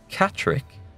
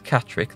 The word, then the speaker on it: Catterick: I think that's Catterick. There was a Roman town. I'm pretty sure that's Catterick. That would be about right. Yeah, that's Durham. That's Catterick.